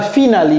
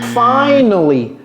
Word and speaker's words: finally: dire ce n'est pas final c'est finally fine et vous voyez comment j'ai prononcé le a finally ça veut dire